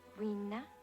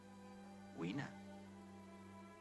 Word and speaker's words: Weena: Rena? Weena. How do you spell it?